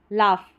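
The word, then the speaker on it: laugh: लाफ, लाफ नहीं लाफ, short sound vowel है। यहाँ पर जी एच को, जी एच का उच्चारण जो रहेगा वो फ रहेगा, जी एच का उच्चारण फ रहेगा।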